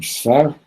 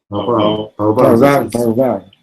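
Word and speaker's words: פרבר: How do you say suburb? Sfar? Suburb is Sfar? No, not Sfar. Parvar.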